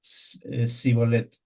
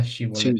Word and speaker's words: Shibolet: Entonces, por no pronunciar bien Sibolet, que era Shibolet.